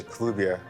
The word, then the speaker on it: Kelubia: Kelubia. Yes. I'm pronouncing it right. Yeah, Kelubia.